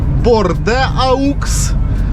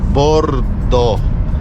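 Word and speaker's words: Bordeaux: І ви думаєте, що ця назва читається як борде AUX, но ні, це читається як Бохто, по-французьки. Дивіться, яка річка гарна. Йо-мойо. Та ти що? Вона якась, правда, така вся коричнева, як ніби в болоті. Ну, та ти що? Яка широка річка. Но це читається не борде AUX, а читається бордо.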